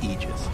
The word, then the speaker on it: Aegis: that is okay so the correct pronunciation technically speaking of ages is aegis this it's a literal